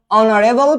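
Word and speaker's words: honourable: ওকে, এরকম দেখো, অনারেবল person, and অনারেবল, তো উচ্চারণটা তো এইচ এর হচ্ছে না, উচ্চারণটা কার হচ্ছে? ও এর হচ্ছে।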